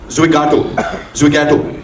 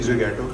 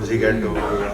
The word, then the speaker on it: Zwigato: करना चाहिए कि mispronouncing Zwigato. Because people say Zwigato, Zigato.